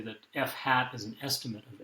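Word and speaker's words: f̂: So the F here and the Y have little circumflexes or carets over them that are pronounced hat in the kind of disciplines that use this notation. So we say that f hat is an estimate of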